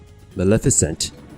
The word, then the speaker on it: Maleficent: I guess this current plot with Agrabah is Maleficent, which is, I guess, the proper pronunciation for her name.